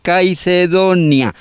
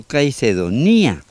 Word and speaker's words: Caicedonia: de los Caicedo y le llamaron Caicedonia, no Caicedonía. Sería un error pronunciarlo así.